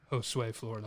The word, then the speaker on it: Josue Florida: Josue Florida.